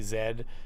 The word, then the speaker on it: Z: but the reality is that z the canadian pronunciation for z zed is actually the correct one because i heard